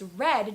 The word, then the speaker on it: read: first or second grade, how do you say read in the past tense? Is it red? Well, it is actually. It's red, just like the color red.